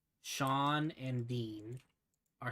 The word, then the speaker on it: Sean: to me about how sean and dean are spelled the same way right it's s-e-a-n and d-e-a-n but they're pronounced completely differently and they're like man